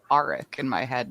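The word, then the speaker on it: Aric: alright i i said arik in my head not eric you're probably right that sounds a lot more like arc yeah that's what i've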